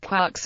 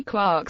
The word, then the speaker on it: quarks: the illusion to three quarks seemed perfect Gilman however wanted to pronounce the word to rhyme with fork rather than with Park as Joyce seemed to indicate by rhyming words in